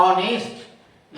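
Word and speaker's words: honest: ओ यू आर आवर ऑनेस्ट लिखते हैं एच से लेकिन बोलते हैं हर नहीं बोलते हैं इसलिए एच का उच्चारण ह भी हो गया, अ भी हो गया।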